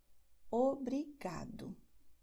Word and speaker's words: obrigado: as, es, os, em, nós acentuamos a penúltima sílaba. Então, como eu digo, não importa a extensão da palavra. Se a terminação é essa, você acentua não a última sílaba, mas a anterior. Por isso, nós diremos obrigada, tarde, obrigado.